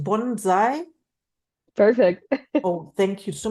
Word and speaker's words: Bonsai: and you have to help me is it pronounced Bonsai perfect oh thank you so much you are